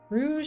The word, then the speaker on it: rouge: not buying toys anymore Rouge like the color not a hard G and oh okay that's